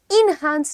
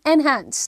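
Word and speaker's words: enhance: करना चाहिए एनहांस everyone how ड you pronounce it इन हैंस नहीं एनहांस ठीक है ओके मूविंग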